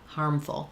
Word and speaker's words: harmful: or something is harmful, you can really reduce that second syllable and kind of think about moving from the f to the full, with just a little bit of a schwa in between.